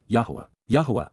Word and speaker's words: Yahowah: narrow path which give meaning to life, which, YAHOWAH, the proper pronunciation of the name of Eloah.